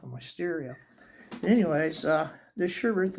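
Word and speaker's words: Schuberth: I was using a Bitwell lane splitter, and this is how you pronounce it, Schubert, German-made helmet.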